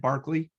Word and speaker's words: Berkeley: a guy named barkley it's spelt like berkeley but for whatever reasons it was pronunciated barkley uh he was the